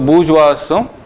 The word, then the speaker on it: bourgeois: So we write it as this, but we pronounce as bourgeois. So bourgeoisம் proletariats இந்த 2 பேரும் வந்து capitalist சொசைட்டியில் இருக்காங்கன்னு ஐடென்டிஃபை பண்ணுறாரு.